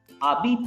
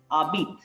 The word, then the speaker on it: habites: Abit is, H is silent, as I told you. Abit. So A-B-I-T. Abit. We are pronouncing only A-B-I-T. We are not pronouncing H.